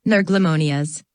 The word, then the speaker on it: nerglimonias: two sharp flicks and the word nerglimonias emphasis on the first and third syllables yes ma'am zayn replied